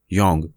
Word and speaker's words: Jung: अच्छा याद कर लो, JUNG, योंग। बहुत से जाहिल इसे जंग पढ़ते हैं और कुछ जोंग। जिन्हें काबिलियत का हैजा हो जाता है वह योंग पढ़ने या लिखने लग जाते हैं।